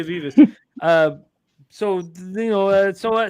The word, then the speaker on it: Vivas: I've been saying it wrong the whole time. I said vibes. Sorry, Vas. There you go. Yeah. Sophia Vivas.